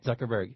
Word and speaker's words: Zuckerberg: Zuckerberg.